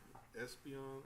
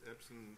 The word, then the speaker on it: Epson: that so and then I reached out to Espeon Espen epin sorry I can't pronounce it right Epson yeah Epson U projectors and printers and stuff like that